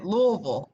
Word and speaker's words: Louisville: Yes, Louisville.